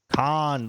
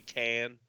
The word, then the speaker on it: Cannes: Yeah, Khan. Khan, like fucking Khan. Star Trek, like Khan. Khan. Oh, okay. Khan, you didn't give me any Q-tips. I heard some people say can, but it's like Cannes half of them Film say Festival.